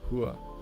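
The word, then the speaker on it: 和: Let's look at the Korean and Chinese characters, pronounced hwa and hua.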